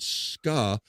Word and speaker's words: ska: I'd say, forever though I used to pronounce that wrong and say it was skay.